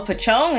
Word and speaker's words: Pocong: Oh, Pocong is how you say it.